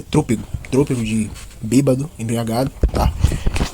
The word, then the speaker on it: trôpego: Então, a palavra aqui pronunciada da matéria correta é trúpego.